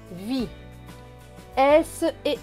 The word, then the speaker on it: vise: Plus loin, V et I, vi. S et E. Donc le S ici ne va pas se prononcer S, mais Z, parce qu'il est entre deux voyelles I et E.